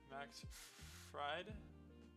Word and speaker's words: Max Fried: Max Fried, that's how to pronounce his name, is going to be pitching today.